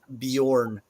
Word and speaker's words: Bjorn: of course would be like the name Bjorn Bjorn is spelled b-j-o-r-n um and but the sound is a is a y sound uh the J has